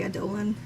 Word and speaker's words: Adolin: Adolin, but I say Adolan. We have to get into all the pronunciations here. I said Adeline before, but now I've turned you. Because I don't like it because Adeline rhymes with Caledon, and that's just weird.